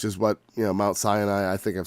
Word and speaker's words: Sinai: what you know mount sinai i think i've said that about a thousand times i know that's not right it's sinai no it's not senai it's sinai no it's probably sinai or something like that let's